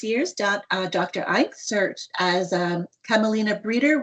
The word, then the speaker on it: Eink: Enick, or sorry, how do you pronounce that, your last name? It's Eink.